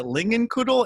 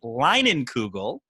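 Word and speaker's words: Leinenkugel: kind of said like is it is it lingan kudo and i was melting i was chomping at the bit because the pride of chippewa falls is where it's made and it is linen kugel which is how you pronounce that and that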